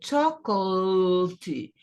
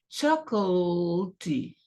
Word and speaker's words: chocolate: Quando a palavra composta é outro assunto, mas uma palavra simples aqui, e são poucas, são exceções, então a pronúncia é chocolate, chocolate, chocolate.